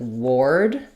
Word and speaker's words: ward: So yes, w a r typically says the or sound. Um if you write it with o r though, you're going to see the word word which is pronounced with the eer sound. Um, so think about ward. Um, I like to think of the word ward as the word war plus d.